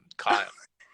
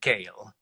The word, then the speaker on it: Kyle: very thick Italian accident he couldn't pronounce my name Carla he called me kale kale so David you said